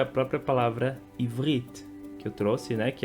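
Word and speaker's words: עברית: Então as pessoas pronunciam ivriti. O certo é pronunciar ivrit, ivrit. Então o som do T no final ele vai ser mudo e vai ser um som de T, T, ivrit, e não ivriti.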